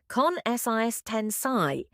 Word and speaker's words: consistency: Oof, difficult pronunciation. Let's say it slowly. Con SIS ten psi.